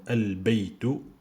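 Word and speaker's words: البيت: Parmi ces lettres-là, vous avez al-huruf al-qamariyya, c'est-à-dire qu'on prononce L comme al-baytu, la maison.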